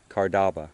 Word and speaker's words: Cardaba: Cardaba.